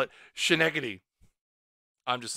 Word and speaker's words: Schenectady: Schenectady. See, I pronounce it like it would be like Atlantic Canadian.